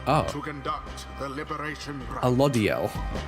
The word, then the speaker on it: Alodiel: Alodiel is the pronunciation.